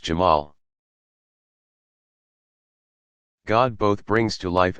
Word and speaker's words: Jamal: speak of his beauty and infinite attractiveness, Jamal, pronounced Jamal.